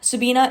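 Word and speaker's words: Sabine: Sabina is pronounced with an A, even though it ends with an E.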